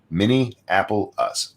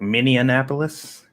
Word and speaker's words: Minneapolis: lot of people who don't know how to pronounce Minneapolis mini Apple us I just did it mmm well some people like I know I pronounced it sometimes like mini Annapolis okay I don't know why it just comes